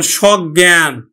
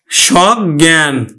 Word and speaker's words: সজ্ঞান: প্রকাশ করছে আবার এই সহিত অর্থে স কিন্তু আবার বিবৃত উচ্চারণ হবে যেমন সজ্ঞান সজ্ঞান তাহলে এই যে সহিত